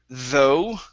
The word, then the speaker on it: though: go to the word though okay so the GH at the end does not make a sound so instead of th it's though though okay very nice